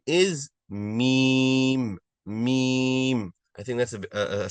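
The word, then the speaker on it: ميم: Its name is meme. Meme. I think that's a simple one, right? Can everyone pronounce that once, please?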